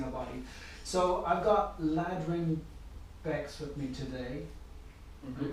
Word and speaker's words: Ladrhyn Bexx: So I've got Ladrhyn Bexx with me today. Mm-hmm. You pronounced that right?